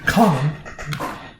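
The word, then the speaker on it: Kwannon: I almost said Kan again. I got to get used to the proper pronunciation. Conan.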